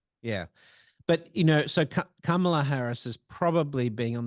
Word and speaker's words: Kamala: did I say it right that time Kam Kamala yeah yeah good um Kamala Harris if she